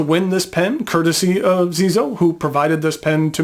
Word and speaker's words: Xezo: previously reviewed and that company is Zeo uh and that's spelled XE Zoo uh the pen I